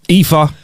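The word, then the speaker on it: Aoife: is the one a o i f e EA come on I know an EA I had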